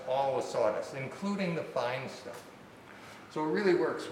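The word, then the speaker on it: Thien: Now this is one of the fine, I think it's pronounced fine, T-H-I-E-N is the guy that invented this thing years ago.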